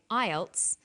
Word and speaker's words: IELTS: acronym with an acronym we don't pronounce the individual letters we pronounce it as a word so we say IELTS not I a L